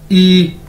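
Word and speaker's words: 一: ई pronounce कैसे करेंगे, जिस तरह इंग्लिश का ई होता है।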